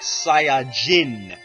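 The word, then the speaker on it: Saiyan: much to explain here when people pronounce Sayan in Japan it's kind of pronounced like sain instead of s a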